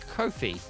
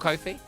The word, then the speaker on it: Ko-fi: Rhymes with no fee.